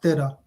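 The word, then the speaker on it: ਤੇਰਾ: The number 13 in Punjabi is it's pronounced Tera, which also means yours.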